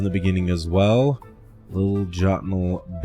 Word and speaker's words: Jotunhel: It's called Jotunhel or Jotunhel. I've seen this pronounced a lot of different ways. Jotunhel is the way I pronounce it. Jotunhel is the way I've seen it pronounced as well.